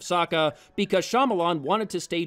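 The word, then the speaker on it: Sokka: ong instead of aang soka instead of saka because shyamalan wanted to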